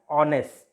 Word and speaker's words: honest: Because we pronounce it as honest, and A is a pure vowel in Marathi, in English, or in any language.